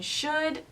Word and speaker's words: should: So first of all, remember that we don't pronounce the L.